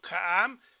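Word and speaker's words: הָעָם: Como les decía, casi no se suena mucho la diferencia entre A corta y A larga, porque no practicamos ni le damos mucho énfasis a la pronunciación, más bien a la interpretación, pero apréndetelo así como ja-am.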